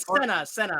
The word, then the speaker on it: Sena: I said Sena. I said it wrong. Sena.